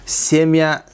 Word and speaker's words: семья: Семья, семья десек урук. Мягкий знак жок. Мягкий знак жок. Семья. Семья болсо, семья болот да, ударение падает на букву Е.